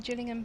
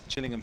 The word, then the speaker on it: Gillingham: Hence the Gillingham pencil case. Correct. Gillingham pencil case is here. Yes. Not Gillingham as when you live down here more people say Gillingham in Dors.